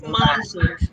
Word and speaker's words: Maji: And I also would love the correct pronunciation of your name. Maji. It's Maji.